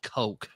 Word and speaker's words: Koch: I don't It's actually pronounced coke.